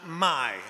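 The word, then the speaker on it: mei: much more ancient root which could be pronounced my m-e-i and i want to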